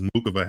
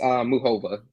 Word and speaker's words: Muchova: She says Muchova. Like, she doesn't pronounce the C at all. I think there's a lane in the world where that's how you say it. I'm not sure. I've heard Muchova, Muchova. I think it's somewhere in the middle.